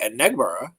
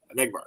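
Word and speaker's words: Enagbare: JJ Enegbara. And McBart with a Enegbara. little at the end. Definitely the accents on the second syllable. I remember Enegbara.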